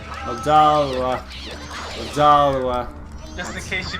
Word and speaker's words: Odolwa: Odolwa. Odolwa. Odolwa. Just in case you don't know how to pronounce his name.